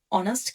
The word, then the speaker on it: honest: honest කියද්දි h කියන්නේ consonant එකක්. හැබැයි අපි කිව්වේ an honest කියලා. honest කියන එක h silent. එතකොට අපි ඒක pronounce කරන්නේ honest කියලා.